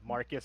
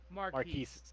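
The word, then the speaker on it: Marques: guy his name is Marcus Brownlee but he pronounced Brownlee marquise marquise but Will Smith pronounced it Marcus like it sounded like you said mark-ass Brownlee everyone made fun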